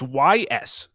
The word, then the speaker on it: Ys: a go, and it's Ys. It's YS. I think it's pronounced Ys.